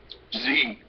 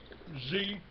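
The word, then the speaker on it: Xe: black water is now z z yeah it's called Z Yeah x e pronounced Z now you know Z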